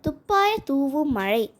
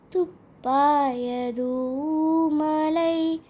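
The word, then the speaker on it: துப்பாய தூஉம் மழை: இந்த குறளை துப்பாய தூவும் மழை என்று தப்பா நிறைய பேர் படிக்கிறாங்க. ஆனால் இதை எப்படி படிக்கக்கூடாது? துப்பாய தூமலை, இதுதான் சரியான உச்சரிப்பு.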